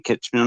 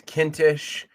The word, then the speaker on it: Kintisch: so without any further Ado we have Kitman on how are you doing sir I'm good Hanuman I'm gonna give it another try it's kinsh Kint it rhymes with minsh there you go